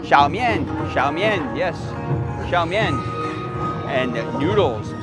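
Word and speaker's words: 小面: How do we pronounce that again? Xiaomian. Xiaomian.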